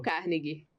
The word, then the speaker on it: Carnegie: Dale Carnegie.